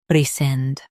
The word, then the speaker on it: rescind: Sind, rescind. Emphasize sind and keep it clear. Sind, rescind.